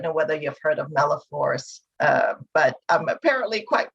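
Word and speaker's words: malaphors: fun i don't know whether you've heard of meloforce uh but i'm apparently quite good at it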